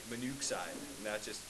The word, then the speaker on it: monoxide: drop that extra O, because if you didn't, it would be monoxide, and that just sounds funny. Okay? Because that's what double O makes, right? Ooh, right? Monoxide.